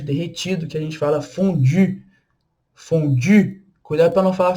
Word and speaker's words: fondue: Mas ó, a boca tem que ser do U e o som, aí sim, o som do I. Então, fondue, fondue, tá bom?